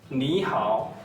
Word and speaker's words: 你好: R, O, Ao, H, Ao, How. But there's a mark above it. It shows you the tongue. It's the third tongue.